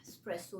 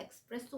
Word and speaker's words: espresso: في اي في الاول لكن هي المفروض اسبريسو الاي خفيفه قوي مش عليها ستريس ان ستريس اوكي ولكن ده النطق الصح اسبريسو ليه علشان هي اصلا كلمه ايتاليان مش انجلش ولا عربي ولا اي لغه تانيه عشان كده بتتنطق غلط حتى الاجانب ممكن ينطقها اكسبريسو وانتم تفتكروا ان هي